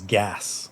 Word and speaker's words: geas: I think Gesh, by the way, lore with Wes. Unless it's the original Irish pronunciation, which I believe is gas.